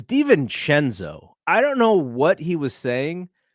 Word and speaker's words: DiVincenzo: By the way, Reggie Miller, it's DiVincenzo.